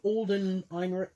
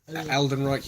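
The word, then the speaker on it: Alden Ehrenreich: How do you pronounce his name? Alden Einrich. Aldenreich, yeah.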